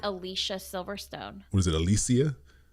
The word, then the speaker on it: Alicia: there know that we've all been saying her name wrong it's not Alicia Silverstone was it Alicia it's Alicia but she never told anyone is this I've